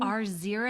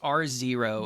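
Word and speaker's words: R0: out it's pronounced zero r zero r zero i some people had said row but it's r zero what is that so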